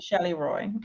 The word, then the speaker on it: Shelly Roy: Shelly Roy.